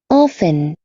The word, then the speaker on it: often: Em algumas regiões fala o T, mas a maioria das vezes não. Often. É mais usada a pronúncia sem o T.